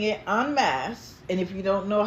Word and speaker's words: en masse: of us collectively, as I've been saying it en masse, and if you don't know how that's spelled, it's E-N space M-A-S-S-E.